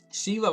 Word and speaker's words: Shiva: have been it actually Shiva was easy because you know it's written and pronounced the same way as the god Shiva and you know I learned about that in school so Shiva is Shiva that's easy um even if I